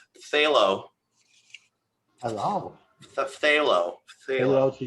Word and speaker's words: phthalo: way to say it but it's phth which you can't say without a list how do you say phth without a lisp phthalo hello the phthalo hello